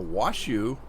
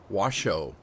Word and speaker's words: Washoe: I'm back on a wash you or actually alien Jim says has pronounced wash oh but it's spelled shoe so I don't know